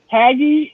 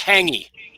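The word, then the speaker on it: hāngī: has said that that haggy is food that is buried and cooked in the ground is it right oh hanging it's pronounced hangy yeah hanging oh man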